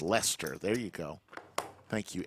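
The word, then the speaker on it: Leicester: that's what a knit is Amy says it's pronounced Lester there you go thank you Amy two great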